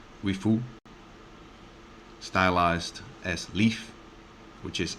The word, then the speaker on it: リーフ: So the Nissan LEAF, in Japanese, I believe it is pronounced Nissan Rifu, stylized as LEAF, which